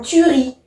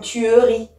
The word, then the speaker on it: tuerie: Je pense aussi aux E muets, ceux qui sont à l'intérieur du mot, qui sont difficiles à percevoir. Une tuerie. Effectivement, il y a un E, on ne dit pas une tuerie.